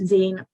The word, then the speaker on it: zine: know what azine is it's pronounced Zine because it's short for a fan Zine or a fan magazine started off all the